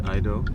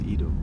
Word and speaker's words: Ido: of Stockholm International Film Festival yes did I pronounce it correctly totally correct okay because usually people say Idol either especially here in Sweden oh yeah yeah it's Edo yeah I would have suggested that they say Edo because Sweden but how are you how are